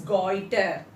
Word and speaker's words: goitre: of iodine leads to goiter, and the spelling Goitre, and the pronunciation is goiter.